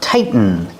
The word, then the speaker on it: tighten: we use the verb tighten. Pronunciation, tighten. Not tighten. You can say tighten or tighten. Hey, Coco. Coco wants to help. When you say tighten, make the stop T fall to the end.